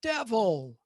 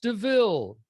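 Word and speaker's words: De Vil: up hey i'm in a car it's a devil right it's not it's pronounced deville yeah exactly yeah i like that okay yeah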